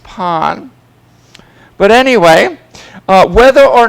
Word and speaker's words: pain: word in French is pon pon um which is spelled like pain p-a-i-n but it's pronounced Pawn but anyway whether or